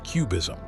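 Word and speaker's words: QBism: idea know known as Quantum bayesianism or cubism pronounced cubism suggests that the entire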